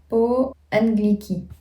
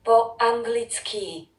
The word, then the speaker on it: po anglicky: Alors que nous, par exemple en français, c'est toujours sur la dernière syllabe du mot. Donc ça change. Akim jazykom hovorim po angliki. Po anglicky.